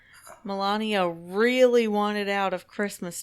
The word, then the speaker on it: Melania: yeah um and also melania if that's how you say her name melania melania that's right melania trump is tested positive